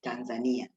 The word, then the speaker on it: Tanzania: It's Tanzania.